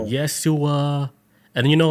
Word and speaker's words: Yeshua: Is Yeshua. So it sounds similar to Jessica like Yeshua.